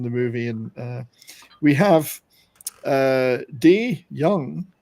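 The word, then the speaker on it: Dey: movie, and we have Day Young, D-A-Y, D Young, D I guess it's pronounced, not Day, D Young, Kate Rambeau, smart but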